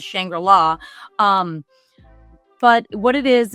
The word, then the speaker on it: Shangri-La: you would absolutely love shangrilla Frontier uh or shangrilla Frontier I've heard it pronounced both ways I always read that word is shangra La um but what it